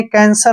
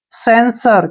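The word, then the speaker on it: censer: एन एस ओ आर आपको इसने कैंसर नहीं पढ़ना है सी ई का उच्चारण जब भी सी के साथ ई आए तो स का उच्चारण होगा इसको पढ़ेंगे हम से और एन का उच्चारण न एस का उच्चारण श होगा ओ आर का उच्चारण र सेंसर क्या पढ़ेंगे इसको सेंसर अब सेंसर मींस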